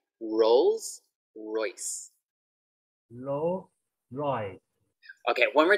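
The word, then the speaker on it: Rolls-Royce: Try to get the S sound as well. Rolls.Royce. Rolls Royce. Okay, lovely. Good job. Thank you. Yeah, that S sound is very difficult in Thai as well.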